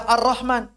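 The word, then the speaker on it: الرحمن: Kenapa kemudian Al-Rahman dibaca Ar-Rahman? Kenapa? Ya karena demikianlah orang-orang Arab mengucapkannya.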